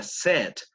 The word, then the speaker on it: said: Solo una pequeña correccioncita es que para el pasado de say En realidad se pronuncia said, lo cual es un poco raro porque en presente say y en pasado no said, sino said, pero así es, ¿no? Como un gringo que dice tango said.